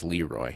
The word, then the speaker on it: LeRoy: It sounds funny to say LeRoy Holcomb in that case, because when it's used for a person's name, I've only ever heard it pronounced as LeRoy.